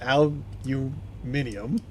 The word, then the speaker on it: aluminium: The rest of the world calls it aluminium, just not the land of the freedom.